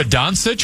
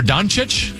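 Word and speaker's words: Dončić: Is it Luka Doncic or Doncic? What is that? Let's go with Doncic.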